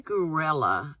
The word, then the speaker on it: Gruelle: all in okay Johnny karela and I think that's how you pronounce his name it's spelled G ru